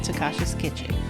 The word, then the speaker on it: Tacasha's Kitchen: You can find Takasha's Kitchen on all social media networks such as Instagram, Facebook, TikTok, and my YouTube channel at Takasha's Kitchen. And that's spelled Tacashas Kitchen, Kitchen.